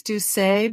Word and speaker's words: Doucet: It's, I use Doucet, but in Taja, Louisiana, I think they use either one, that's where she's from.